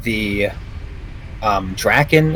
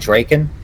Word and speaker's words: Drakon: I am playing it the Drakon is how you pronounce it Dracon drinking flick dragon yeah